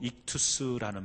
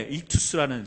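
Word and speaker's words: ἰχθύς: 이 물고기라는 헬라어는요 우리 발음으로 익투스라는 말을 써요. 익투스라는 말을 쓰는데 화면 좀 보여주시겠어요?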